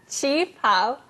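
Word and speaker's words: qipao: Qi Pao.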